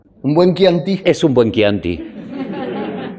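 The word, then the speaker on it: Chianti: Un buen es un buen quianti. Es qui o qui Pues yo creo que es Kanti. Es Kanti o Kanti sale separado, ¿no? Por sílabas. Ki anti.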